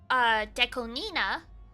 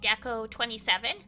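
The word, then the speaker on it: DECO*27: the Vocaloid producer, Deconina, but it's spelled out DECO asterisk 27. So a lot of people in the West used to say Deco 27, and then we find out it's Deconina because you're supposed to pronounce it not as numbers, but as like a name.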